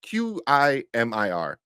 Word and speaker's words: Qimir: It's Qimir. Kaimar. Kimar. That's what I saw. Kumar? Kimar. Yeah, I forgot how to pronounce it. QI is key, and then Yeah, Mar.